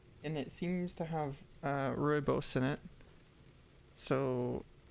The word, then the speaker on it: Rooibos: It's Bergamo Rose tea, and it smells pretty interesting, and it seems to have rooibos in it, so it's gonna have an interesting flavor, I'm sure.